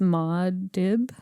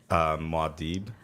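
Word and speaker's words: Muad'Dib: It's Maud Dib.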